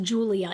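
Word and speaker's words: Giulia: first we start with I hope it's pronounced Julia it's g i u l i a and this is a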